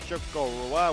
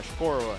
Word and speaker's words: Chocorua: And we're going to take a look at Chocorua, which I used to call Chocorua.